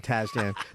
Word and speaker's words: Tasjan: I am here today with Aaron Lee Tazjan. Hello. Hello. Hello. Hello. Tazjan. Tazjan. Tazjan. Do I pronounce that correctly?